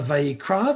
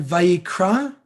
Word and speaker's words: Vayikra: If you don't know what an aleph is, it's again the very, very last letter, Vayikra. And the aleph is silent. That's the letter aleph. No sound.